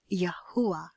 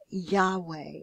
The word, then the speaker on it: Yahuah: of the Most High, which is again pronounced Yahuah, using the ancient means of pronunciation without the modern mechanisms of modern Hebrew's vowel pointing. Otherwise, you may see Yahweh or other variations.